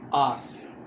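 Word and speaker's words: hours: और इसको हम आवर्स नहीं पढ़ेंगे, आवर्स, एच साइलेंट है, आवर्स।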